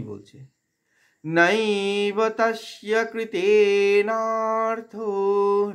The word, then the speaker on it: নৈব: নৈব, নাইকে দীর্ঘ করব, আই নৈব বলবো না, নাই আই উচ্চারণ হবে, আই আর ই, আই।